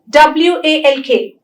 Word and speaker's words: walk: usually not always because there are exceptions when you have a word like calf the la is silent tlk talk w-a-l-k walk but you have words like m-o-u-l-d mold there the le is not silent that's why i said le